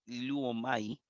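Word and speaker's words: λύομαι: Si termina en omai, como en el caso de lío, liome, ¿verdad? Que se podría pronunciar luomai.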